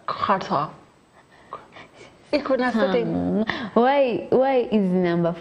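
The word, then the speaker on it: quatre: The pronunciation. Kata.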